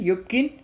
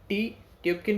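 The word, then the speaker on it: Tyupkin: Pronunciation यूबकिन, ट्यूबकिन भी कह सकते हैं आप, इसका प्रोनाउंसिएशन है।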